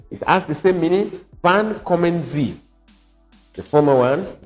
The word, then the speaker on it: wann: And then the second to the last one, wann, pronounce it, wann.